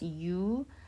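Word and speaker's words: ㅡ: This vowel has a unique pronunciation that only exists in Korean. The mouth opens long to the sides, but the pronunciation is ambiguous like a. It is pronounced u. This pronunciation does not exist in English.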